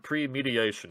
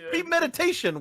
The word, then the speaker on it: premeditation: In any case, all of us need to figure out how to pronounce the word premediation, because apparently all of us are pronouncing it incorrectly. It's premeditation, what? I thought it was pre-med...